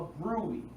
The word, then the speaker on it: bruit: It's called a bruit.